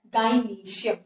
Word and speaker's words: gynoecium: That is, here while you say endrusium, here you will pronounce it as gynoecium, not gynoecium.